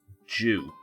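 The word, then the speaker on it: dew: worried about the um the way that we pronounce the the word d e w in this country is pronounced Jew uh so I just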